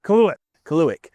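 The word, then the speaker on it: Kaluhyat: We are at Turning Stone this weekend on Friday for the USAM Tour Albany region event at Course K, which is pronounced Kaluik.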